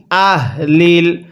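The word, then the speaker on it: أَهْلِ: মিন আহলিল, অনেকেই আমরা এখানে আহলিল এই হাটাকে উচ্চারণের সময় মুখ দিয়ে হালকা বাতাস বের করি, তাহলে কিন্তু পড়াটা সহি শুদ্ধ হবে না। এই হাটা উচ্চারণের সময় গলা দিয়ে এক প্রকার শব্দ হবে। মিন আহ, এরকমভাবে পড়তে হবে।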